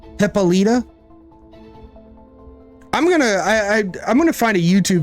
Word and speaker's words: Hippolyta: you've always pronounced it Hippolyta. Chat told me one time that it's more like puh, like P-U-H, so like hippa, which that's kind of what you're doing there, right? Hippolyta.